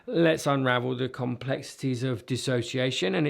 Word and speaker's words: dissociation: misunderstanding dissociation okay and often this is mispronounced as disassociation this is dissociation and I'm going to explore